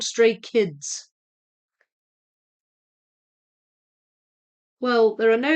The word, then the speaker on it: Stray Kids: English speaking people tend to think the last letter is silent, which it's not.